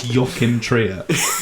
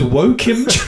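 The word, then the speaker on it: Joachim Trier: No, I think it's Yokim Tria. And he goes woken. No. Yin y your they pronounce J's like your I don't think the Norwegian language and me are very well suited.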